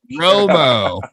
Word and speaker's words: Romo: has a quarterback whose last name rhymes with homo. So I always thought that was fun. Romo, man, that's an outdated.